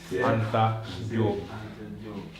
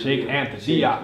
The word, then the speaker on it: Cheikh Anta Diop: Sheikh Anta Diop. I'm over here confused. You're like a whole different person. What is that? I'm over here confused. It's a Wolof name, and actually yesterday I